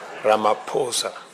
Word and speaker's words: Ramaphosa: Your excellency, my brother, President Sri Laposa, he just explained to me that the correct pronunciation is not what everybody else has been saying. It is Ramaposa and uh I hope members of my delegation have have picked it up.